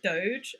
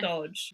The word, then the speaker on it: Dodge: And I kept pronouncing it as Doge, and even though it was spelled Yeah. Dodge.